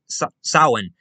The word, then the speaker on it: Samhain: they had used so this was basically samhain sawin now samhain remained the same for a long